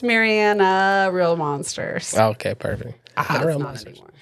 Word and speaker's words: Marianna: Instagram, my handle is it's Marianna.